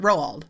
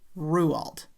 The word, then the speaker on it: Roald: Now, I'm kind of conflicted when it comes to the pronunciation of Ruald because in my video of Roald Doll, I pronounced it Rowald and I looked it up before I did that video.